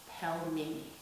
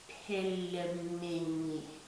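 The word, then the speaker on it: пельмени: So you make this letter L soft by placing the soft letter after the letter L. And it's not pronounced pelmeni, it's pronounced pelmeni, pelmeni, pelmeni.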